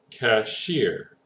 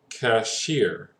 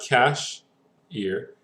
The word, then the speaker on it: cashier: one is it well our emphasis is actually going to be on the last one okay so our pronunciation is going to sound something like cashier okay cashier that's why we split